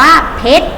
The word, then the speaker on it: เพชร: ต่อ ไป ทำ ว่า เพชร พอ เอก ฌอร์ฌ เพชร ไม่ ออก เสียง ร้อง เรือ นะ คะ แหวน เพชร นะ